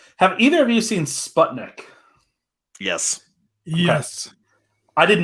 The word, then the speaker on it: Sputnik: it's actually funny because people pronounce it differently in australia they say spudnik and then apparently it's supposed to be pronounced sputnik so i mean whatevs